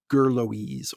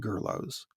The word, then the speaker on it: Gurloes: a youtube pronunciation of gurloes or gurlos i i've always pronounced it like socrates most english speakers i suspect pronounce it gurlos well marcus points out it's not greek it's french and then he offered